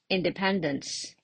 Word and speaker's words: independence: The word independence. Independence. How many syllables are there? In, de, I'm sorry, pen, dance. There are 4 syllables. And what about the stress mark? Where do I put it? Independence. Yeah, the syllable with the typo.